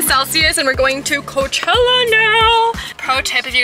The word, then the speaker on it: Coachella: But now we're going to Coachy. Don't say it like that. Just say Coachella.